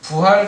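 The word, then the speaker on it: 復: 그런 의미 일 때 는 " 부 " 라고 읽고 , 회복 에 대해 이야기 할 때 는 " 복 " 이라 고 읽습니다 .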